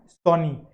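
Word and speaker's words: psony: पी is silent, तो सोनी।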